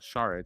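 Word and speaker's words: Šarić: I think it will Saric Sha that's how they say it on the broadcast. Saric. Saric Saric. Saric like shh. Saric like I'm Sean Connery.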